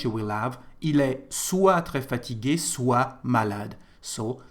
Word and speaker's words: soit: So here you can see there is a T, but we don't pronounce it, so soit, soit.